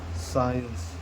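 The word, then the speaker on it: science: यस के बाद कभी भी अगर सी आता है तो सी क्या हो जाता है? साइलेंट हो जाता है। जैसे एक एग्जांपल देख लीजिए, हम लोग का एक सब्जेक्ट है बहुत अच्छा, क्या है? साइंस।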